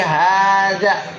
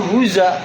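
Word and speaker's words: هذا: Kita yakin ini baca pasti haza. Kalau misalnya ada orang bilang, enggak, barangkali dibacanya huza gitu. Oh, boleh jadi bukan haza tapi hiza.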